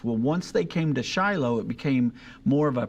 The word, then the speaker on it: Shiloh: is the way we pronounce that we also pronounce it Shiloh and not Shilo uh but Hannah prayed I